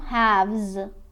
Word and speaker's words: halves: حواستون باشه که این L اینجا سایلنت، تلفظ نمیشه. 2.5 3.5 2 halves.